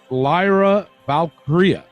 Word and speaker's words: Lyra Valkyria: WWE filed uh a trademark for the name Lyra valkyria did I pronounce that right Elio or did I butchered